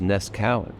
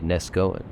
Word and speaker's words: Neskowin: slab Creek to nesen the original pronunciation was nesan but like many Native names and other things in this country it was dumbed down and most people today say nesg Goan speaking of dumbed down